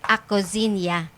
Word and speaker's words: Acozinha: Acozinha po, H-A-H. Pero ang pronunciation po ng products namin is Acozinia.